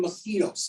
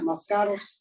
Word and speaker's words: moscato: investors are in maui right you know sipping mosquitos is that mosquitoes how do you say moscatos there you go i said mosquitoes i don't